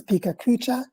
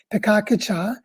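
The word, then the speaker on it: Pecha Kucha: A lot of people pronounce this pikakucha, but it's actually a Japanese word, pikakucha.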